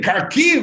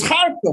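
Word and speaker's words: Kharkiv: from the whole thing karkiv it's harco what car keys and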